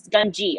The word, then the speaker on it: Gungi: Gungi. Okay, thank you for the pronunciation typed out phonetically in the chat there.